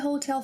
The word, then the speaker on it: hotel: Different from English, the letter H, H, is not pronounced when it's at the beginning of a word.